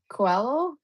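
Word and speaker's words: Coelho: Maybe we would say that we are thinking about discussing the book The Alchemist and by Paulo Quello. Yes. Yes, that's how it's pronounced.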